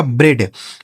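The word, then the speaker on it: bread: आर ई ए डी तो बी आर से हो गया दोस्तों ब्र इ ए का उच्चारण एक की मात्रा डी से हो गया ड यह लिखा गया आपका ब्रेड बी आर ई ए डी ब्रेड ठीक है एच इ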